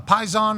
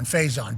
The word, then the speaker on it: Faison: Okay, so not Pison, Faison, but it's spelled like Pison, I do believe, but with an F.